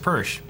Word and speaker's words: Pers: $10 from Jacob pers you pronounced my last name wrong it's pronounced pers all right I've been